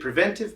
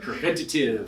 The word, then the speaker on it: preventive: Preventative. Preventative. We see the commercials. It's preventive. It's Preventive Pest Control. Why waste a syllable?